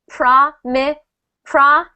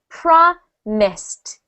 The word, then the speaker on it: promised: promise right prise but because this word prom Miss does not end in A D or t we do not add a third syllable so instead of saying PR pred we will say promised try that Franchesco promised